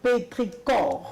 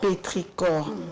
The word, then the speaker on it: pétrichor: En vrai, la prononciation, le pétrichor en vrai, la prononciation, c'est pétricor. Pétricor. Ah, oui, on dit pétricor.